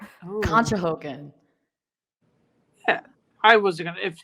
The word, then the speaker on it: Conshohocken: Oh, no, but we say Conshohocken. It's okay. The first time I saw that word, I thought it was cocksockin. So, but it's Conshohocken.